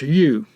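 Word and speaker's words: 豫: plates and whenever you see this character it's pronounced you but it stands for hernan after the fall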